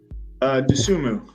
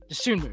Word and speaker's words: Dosunmu: I say it Dosunmu. Dosunmu. Yeah. Okay. Dosunmu.